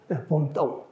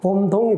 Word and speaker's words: 봄동: 봄똥. 똥 그러니까 무슨 말인지 잘 못 알아듣는데 발음을 갖다가 세게 하지 않고 천천히 하면 봄동이 됩니다.